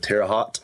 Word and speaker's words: Terre Haute: And the next week, we got asked to play a festival in, I don't know how to pronounce the town. It's somewhere in Indiana. It's Terre Haute.